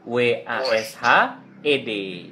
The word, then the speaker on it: washed: W-A-S-H-E-D ya. Jadi dibacanya setelah wash lidahnya naik ke atas. Washed. Iya, washed gitu ya.